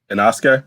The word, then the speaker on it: Inosuke: I'm sorry, how you pronounce his name? Inosuke?